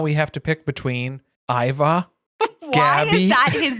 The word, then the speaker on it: Ivar: It's pronounced Iva.